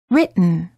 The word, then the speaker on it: written: gum Ridge but mmm similarly don't say written or written say written don't say kitten or